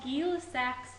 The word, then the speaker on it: Gay-Lussac: and this is called gilak law this guy was French that's why his name's pronounced a little bit different than what it looks gsac law is the